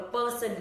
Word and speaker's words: person: Nào, từ này không đọc là person, lý do là bởi vì chữ này là chữ r dài ạ. Các bạn cong lưỡi lên một tí này và kéo dài nó ra, person.